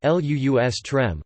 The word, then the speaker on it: lustrum: be confused with the identically spelled, but differently pronounced, lustrum ( LUUS-trəm), a haunt of wild beasts, plural lustra ( LUUS-trah), a den of vice.